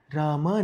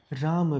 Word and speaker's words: राम: उदाहरण के लिए यह नाम रामा नहीं है, राम भी नहीं है, यह नाम राम है, क्योंकि म यह अक्षर अकारांत है।